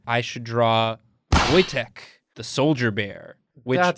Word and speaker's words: Wojtek: the Polish army in World War 2 named Wojtek it spelled Waja Tech in the rulebook says a bear can't be in the army but it's pronounced Wojtek it's a cool story there's like a lot